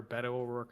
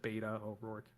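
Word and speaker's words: Beto O'Rourke: Um, or Betto Oorc is how you say. I was I almost said Beta Oor.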